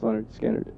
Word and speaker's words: Lynyrd Skynyrd: Like Lynyrd Skynyrd, pronounced Lynyrd Skynyrd, people think is the first album.